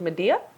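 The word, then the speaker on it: Madea: I was thinking more so along the lines of Medea. Who's that? Tyler Perry's Medea. Quentin Tarantino's Medea. Are you serious? Do you not know who Medea is? I don't know who that is. Look up Medea right now.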